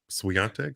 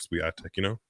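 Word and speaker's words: Świątek: Sorry if I'm mispronouncing her name. Swiatek?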